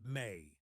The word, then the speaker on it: me: One of the most intriguing and mysterious concepts Kramer discovered in Sumerian texts is something called me, pronounced May.